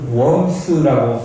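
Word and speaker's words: Worms: 보름스 웜스라고 발음하기도 하죠.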